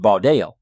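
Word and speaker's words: בָּדַל: H stands for Hebrew, pronounced Baudel, meaning to separate or divide.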